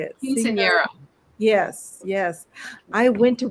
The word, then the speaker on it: Quinceañera: Quinceañera.